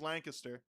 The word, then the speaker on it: Lancaster: Okay, so first off, the correct way to say it is Lancaster.